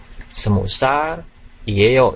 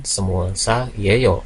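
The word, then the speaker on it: 스무 살이에요: Jadi ini dibacanya semusar ieo ya, semusar ieo. Jadi bukan semusal ieo karena realnya dihilangkan menjadi semusal ieo ya.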